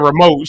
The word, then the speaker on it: remote: She said I would have put the emphasis on moat. She put the emphasis on re.